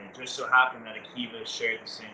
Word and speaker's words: AKiVA: AKiVA. AKiVA. That's AKI with a VA.